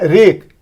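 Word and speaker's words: wreck: हम डब्लू को प्रोनाउंस नहीं ना कर रहे हैं, क्या कह रहे हैं? रेक, आर को प्रोनाउंस कर रहे हैं।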